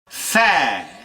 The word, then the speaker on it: faire: à notre fer lorsque le E final deviendra muet notez ma prononciation faire pourquoi mettre un a